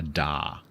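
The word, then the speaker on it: DAW: In British English, they're the same.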